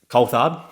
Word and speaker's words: Coulthard: so it's it's it's weird because i say coal thought so i pronounce it cold cold world and um it